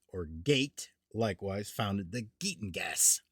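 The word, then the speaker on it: Geat: Skeleddwa otherwise known as sky pronounced shield founded the skelling great pronounced g or gate likewise founded the gateng gas beowolf of epic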